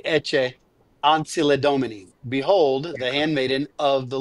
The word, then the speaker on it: Ecce Ancilla Domini: going to say, Well, I was a classicist, and so I often give it the Ciceronian pronunciation, but the ecclesiastical Latin has the Italianate pronunciation, so it would probably be Ecce Ancilla Domini.